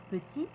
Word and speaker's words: petit: une consonne comme t on ne prononce pas le T au masculin mais on prononcera le T au féminin exemple petit petite quand l'adjectif masculin se